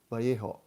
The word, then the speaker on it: Vallejo: He says, and of course my pronunciation is not correct, but he says, Vallejo. Our Spanish friends could help me, but Vallejo. Then when he says this, he's telling me, you English speakers say Vallejo.